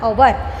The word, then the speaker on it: hour: हवर ऐसा नहीं बोलते हैं हम, क्या बोलते हैं इंग्लिश में? 1 घंटा, यानी कि 1 आवर, जिसका साउंड वोवेल है।